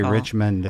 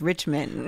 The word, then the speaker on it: Richmond: cole richmond and i want to say rich men i know no but it's richmond i grew up in richmond virginia right i'm used to it now he's like a rich man that's how it's spelled and we're going